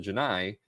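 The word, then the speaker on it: Genii: capital N A I I is identical in pronunciation to the Janai, capital G I in Stargate Atlantis 2004, where Cole meani, of course, Chief O'Brien has a recurring role as the Janai chief.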